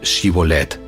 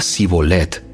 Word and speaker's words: Shibolet: Ellos le pedían que pronunciara la palabra Shibolet. Si era de Efraín, diría Sibolet, porque a la gente de Efraín le cuesta pronunciar bien esa palabra.